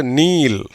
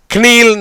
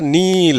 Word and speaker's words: kneel: KNEEL, கேக்கு உச்சரிப்பு கிடையாது, ஸ்ட்ரெயிட்டாக எண்ணுக்கு போயிடு. இன் ப்ளஸ் இ, நீ. எல்லுக்கு இல். எப்படி வருது, நீல். கினீல்னு சொல்லக்கூடாது, நீல் அப்படின்னு தான் உச்சரிக்கணும்.